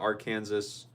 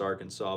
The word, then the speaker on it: Arkansas: on because they thought our Kansas I know I'm saying our Kansas wrong. I know it's technically pronounced Arkansas, but I like our Kansas better.